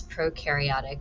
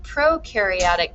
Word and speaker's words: prokaryotic: enkaryote nucleus no nucleus you can remember that pro rhymes with no for no nucleus and here you see the prokaryotic cell where you do